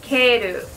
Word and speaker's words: Kale: I kept calling it Kale. I don't know how they want to pronounce it, but I'm just going to go off how they do it in Japanese, which is Kairu.